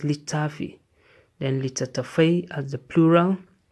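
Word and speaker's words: littafi: Then litafi is pronounced litafi.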